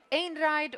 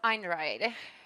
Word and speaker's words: Einride: way to pronounce it is it and ride or an ride we actually say that you can decide yourself how you want to pronounce it just don't say like